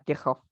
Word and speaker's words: Kirchhoff: Saya lupa ya Hai Jerman beliau tuh Jerman membaca namanya sebenarnya adalah keysoft Bacanya adalah kircoff mungkin guru teman-teman bisa